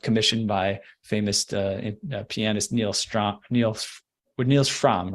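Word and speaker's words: Frahm: was kind of commissioned by famous pianist Niels Fromm, right? Is that how you pronounce it? It's Fromm, yep.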